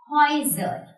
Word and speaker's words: Häuser: So if these vowels are together in a word, this will be pronounced as Oi. Oi. Here is an example. Häuser. Häuser. Häuser. Yes. This is Oi.